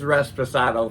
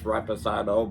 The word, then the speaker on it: reposado: So it's Resposado for me. I know it's Reposado, but Resposado is giving every letter, you know, its own time to shine.